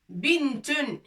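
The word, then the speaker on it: بنت: Bintun, une fille. Une fille. Bintun. Ba, noun, ta. Bi, n, avec soukoun. Tun.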